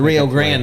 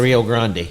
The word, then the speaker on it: Rio Grande: grand down there Rio Grand is ok the Rio Grand that's what we call it probably all the way down through Texas is the Rio Grand okay okay if you're from New York it's the real grande yeah well anyways we